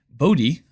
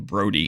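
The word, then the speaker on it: Bodhi: with b Fett playing Bodie make sure I say it right this time so apparently in my last video this that this card was in I was saying Brody instead of bod hopefully that's right sorry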